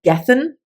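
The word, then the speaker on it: Gethen: winter is coming in gethin that's how I pronounce it it's g-e-t-h-e-n and we followed two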